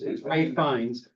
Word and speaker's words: Ralph Fiennes: that's how you say his name, even though it's spelled Ralph Fiennes, whatever, it's Ralph Fiennes.